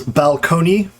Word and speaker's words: balcony: you guys know that when balcony was first uh borrowed in the prestige pronunciation was balcony and um in fact there are accounts of people like and balcony was considered the the sort of the low-class pronunciation right like you know oh